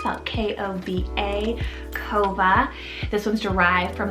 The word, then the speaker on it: Kova: english rooted meaning joyful number 72 i have kova it's about k-o-v-a kova this one's derived from the seaside word